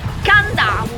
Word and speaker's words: Kadavu: Si scrive Cadavu con la K all'inizio e si pronuncia Candau.